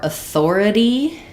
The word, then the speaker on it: authority: Um uh and for authority um and authorities um we have stress on the thore syllable.